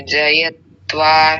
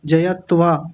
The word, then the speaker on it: जयत्व: चाहिए दुख द मनस्यांगमे जयत्वा शस प्रवासा विक्षेप सहभव आपने यहां आ की मात्रा लगाई जयत्वा जयत्वा थोड़ी है जयत्व जयत्व हां जी बहुत सुंदर